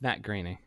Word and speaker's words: Groening: Oh, Groening. Yeah. Here. I'm gonna link you it. Happy Thanksgiving. Fuck you. Happy Matt Groening. Yeah, there you go. That's how you pronounce Matt Groening.